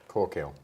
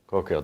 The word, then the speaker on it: Caukill: Caukill. Caukill. Did you get that? It, okay. But, you know, so kind of cork kill. it's like cork on a hill.